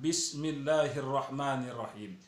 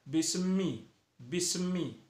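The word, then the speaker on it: بسم الله الرحمن الرحيم: dipantulkan huruf mim nya banyak orang membacanya bisnis bisnis itu tidak boleh itu dilarang membaca seperti itu harus bersih kita membacanya itu yaitu Bismillahirrohmanirrohim Nah itu adalah bacaan yang benar tak hanya hamati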